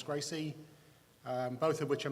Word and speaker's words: GRCSE: and um The Graduate reference curriculum which we pronounce Gracie um both of which are managed by an